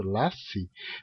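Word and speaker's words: lasi: hein Porque em português quando tá entre vogais como é o caso de lass deixar em Esperanto lass tem que pronunciar s mesmo não pode transformá-la em Z porque z z s é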